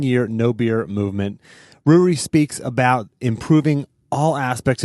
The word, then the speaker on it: Ruari: Well, I had to clarify your pronunciation of your name because in the way that you had told me to remember it was it rhymes with brewery, and it's interesting that